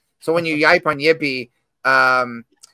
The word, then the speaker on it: Yipe: it's spelled y-i-p-e so it's spelled like yipe but it's pronounced yippee interesting yeah and it's